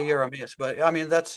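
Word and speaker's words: Jeremias: By the way, uh George, the right pronunciation you say is Yeah, I say yamas, but I mean that's it's German, you know, so the J at the beginning.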